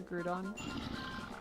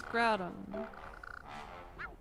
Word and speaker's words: Groudon: Ah, pronouncer Grudon. No, that's Groudon.